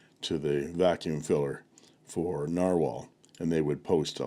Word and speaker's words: Nahvalur: and this is the Narwhal I'm going to spell it both ways English and Icelandic and they're both pronounced the same original Plus rainbow R